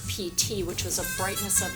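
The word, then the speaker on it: Piti: Dakota and this is PT PT is eight um his name is a poly word meaning it's spelled Pi TI it means brightening in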